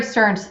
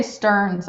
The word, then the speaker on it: Stern: arcade management oh Gary Sterns thank you thank you I knew I had his name wrong yes Gary I don't know why I say Sterns I always have said Sterns and it's Stern Stern well you're talking about